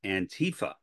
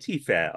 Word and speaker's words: antifa: as antifa now and antifa on the other hand is an acronym it is the beginning of the pronunciation of the word anti-fascism hence antifa so there's the logic